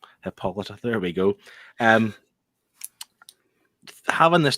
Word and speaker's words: Hippolyta: Like even her mom, I still can't pronounce her name. Hippolyta.